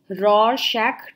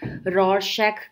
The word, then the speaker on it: Rorschach: फॉर you guys so today's top topic is रॉर शैक test अब रर कई लोग इसको तरह-तरह से प्र प्रोनाउंस करते हैं बट आप ग करके एक